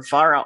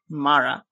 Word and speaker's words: Mara: to just call her Vara all the time that's bunkers I know now that your name is Mara so I pronounce it Mara so there there is